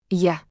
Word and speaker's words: Я: Looks like a backwards R. Sounds like the beginning of word yard. Я.